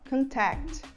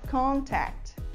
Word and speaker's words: contact: essa palavra como um verbo, como uma ação, a gente fala contact, contact. E quando a gente fala no sentido de substantivo, que é contato, a gente fala contact, contact. A gente coloca a sílaba mais forte na primeira sílaba quando ela é um substantivo.